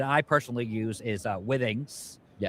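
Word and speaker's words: Withings: one that that I personally use is uh Wings. Yes. Some people pronounce it Wings or, you know, there's different pronunciations, but it's Wings.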